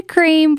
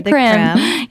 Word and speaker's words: Creme: I say the Cream, but a lot of people say the Creme. Yes. So it could be either way, right?